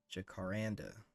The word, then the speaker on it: jacaranda: Let's see what this Jacada wood looks like. Is that how you pronounce that? There you go. Jacaranda. Jacaranda wood? Jacaranda. Exactly.